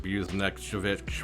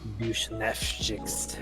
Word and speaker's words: Buchnevich: It's not Buchanan, it's like Buznevich, whatever the fuck. Bushnevchik.